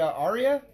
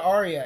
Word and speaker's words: Aria: We are at the Aria. Is that how you say it? That's right. We're at the Aria.